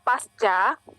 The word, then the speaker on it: pasca: Jadi tulisannya yang benar adalah pasca sarjana, dan bacanya itu pasca, bukan pasca.